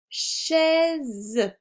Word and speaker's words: chaise: Une chaise. Je prononce the car je suis entre les deux voyelles I et E.